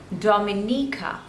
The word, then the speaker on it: Dominica: this one is Dominica there are total Force labels and you have to stress on the third one Dominica Dominica Dominica Dominica next